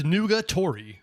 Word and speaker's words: nugatory: Nougat-ori. Have I heard this word before? I think I know what it means from context, but still, what the funk is nugatory? Yep, it's nugatory. Okay, it's pronounced nugatory.